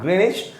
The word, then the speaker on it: Greenwich: called prime meridian or greenwich meridian greenwich green itch it is how it is pronounced greenish meridian then how many longitudes